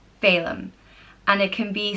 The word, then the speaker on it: Phelim: The next name is Salem, and it means beauty or ever good, and it's pronounced Fe-lim, Phelim.